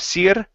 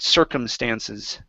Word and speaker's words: circumstances: uh the word circumstances instead of Sir sir circum so many different circumstances so many different circum